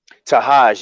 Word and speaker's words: Tahaj: And how do you pronounce the producer's name? Tahaj? Tahaj, yeah.